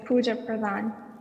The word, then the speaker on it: Pooja Pradhan: You said it correctly. It's Pooja Pradhan. Oh, thank you. You're welcome. So, good evening, everyone. My name is Pooja Pradhan, and I'm a senior from Putnam Vocational School.